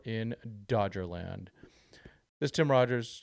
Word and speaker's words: Rogers: This is Tim Rogers. Yes, it does rhyme with Dodgers.